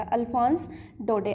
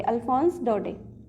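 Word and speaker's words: Alphonse Daudet: इसमें जो लास्ट का टी है वो साइलेंट है, ठीक है, ये टी साइलेंट आएगा। अल्फोंस डोडे, अल्फोंस डोडे।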